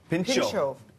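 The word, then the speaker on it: pintxo: Pinxto.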